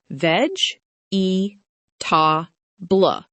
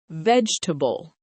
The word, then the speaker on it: vegetable: It looks like 4 parts: veg, e, ta, blah. Instead, we say vegetable. We push the sounds together to make the word shorter.